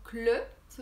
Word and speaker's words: les: niveau de la prononciation donc le se prononce le avec le sont eux comme la lettre e le lait donc les se ponce avec comme s'il y avait un accent aigu donc les le et